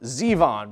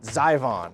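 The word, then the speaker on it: Zivon: wanting to pronounce it zyvon but it is actually Zevon rudaka unleashes the Zevon because zyvon sounds a lot better it's spelled z-i-v-o-n that looks like it should be pronounced zyvon and I think xyvon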